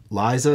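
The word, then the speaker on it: Lysa: terrible shitty people that Lisa is it Liza Lisa is that how you pronounce it yeah Liza with her she is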